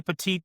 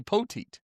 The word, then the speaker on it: Poteet: And that's not Cody. That's not Cody Petit, the French word for small either. It's spelled differently. Or like a mini me, Cody Bellinger. Yeah, not Cody Petit. There's Cody Petit. Cody Poteet.